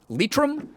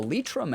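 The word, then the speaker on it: Leitrim: uh she can trace back her lineage to litrum i i don't think that's how you say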